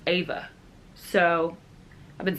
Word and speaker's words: Eva: cousin named Eva and she's very particular about how it's Eva and not Eva so I was like do you say Eva or Eva and she says it's actually pronounced Ava so I've been saying